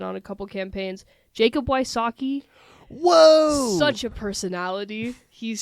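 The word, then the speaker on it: Wysocki: I do know Jacob Wasaki. Yes, I think I said that name wrong. Very funny. You said it correct.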